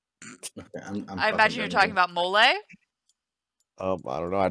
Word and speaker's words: mole: __ ] good i imagine you're talking about molay oh i don't know i typed in most